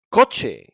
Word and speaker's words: coche: So it's pronounced like a K when it's followed by an A, O, or U, like in casa, coche, and cucaracha.